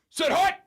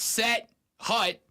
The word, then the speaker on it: set hut: the importance of making sut one word he's like it's not set hut it's one word two syllable set and then grudin goes